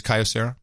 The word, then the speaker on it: Kyocera: this is a Kyocera or Kyocera how you pronounce it pretty big company so I like that sky Dussehra it is Kyocera yeah now I think these prices are too